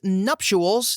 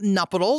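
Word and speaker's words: nuptials: Also, it's nuptuuals, not nuptils.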